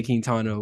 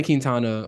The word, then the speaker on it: Quintana: went back and then Jose quintano was actually well let me not say it like that Jose Quintana was competent quality start and